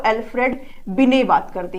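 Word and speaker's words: Binet: तो mental as के बारे में जो बात करते हैं वो एल्फ्रेड बिने बात करते हैं। ठीक है, इंग्लिश में टी होता है लेकिन ये साइलेंट होता है।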